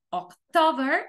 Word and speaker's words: October: primera en inglés aost y qué pasa con septiembre octubre noviembre y diciembre van a acentuadas en la segunda sílaba decimos september october November and december Okay entonces septiembre octubre